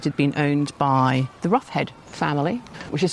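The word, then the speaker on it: Rocheid: Since 1665, it had been owned by the Roughhead family, which is spelled Rasheed, but apparently pronounced Roughhead in one of those weird kind of ways.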